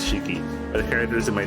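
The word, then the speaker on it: 四季: mention it so the characters for four seasons can be pronounced as shiki the characters in my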